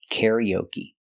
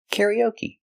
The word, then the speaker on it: karaoke: yellow Caro Caro karaoke the final e is pronounced with a long e like green beans Koke K ke karaoke